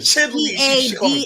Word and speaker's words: Cheadle: I can't pronounce his name right. You know what I'm talking about. This Cheeto? black guy. Cheeto? Don Cheadle? I thought it was Don Don Cheadle. Cheadle Cheadle. is Cheadle.